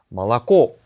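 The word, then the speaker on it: молоко: 세예 세 개가 다 온데 근데 이제 강세를 받고 있는 모음이 제일 마지막에 있는 거예요. 그래서 발음할 때 말라고 이렇게 발음해야 돼요.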